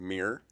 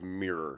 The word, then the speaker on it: mirror: weird pet peeve about people saying Mir it's true instead of mirror Americans say Mir like a meerkat let's say it's we